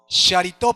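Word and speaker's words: χαριτόω: La palabra favorecida en el griego es jaritó. Sharitó por la manera en que se pronuncia, que viene de Sharí, que significa, escuchen muy bien, ¿por qué Dios escogió a María?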